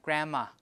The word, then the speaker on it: grandma: sound the medial sound tend to be deleted grandma like this so D is deleted because you have one two and three so you have Grandma right and then n and M will do assimilation so you have Gramma grammar like that softball T is the